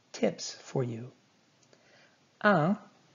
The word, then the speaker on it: un: Un is nasalized.